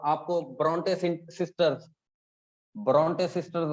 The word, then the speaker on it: ब्रोंटे: और हाँ, आपको ब्रोंटे सिस्टर्स, ब्रोंटे सिस्टर्स आ गई, ब्रोंटे, परोंठे से याद कर लो, ब्रोंटे, परोठे से याद कर लो, परोठे, ब्रोंटे, ठीक है जी।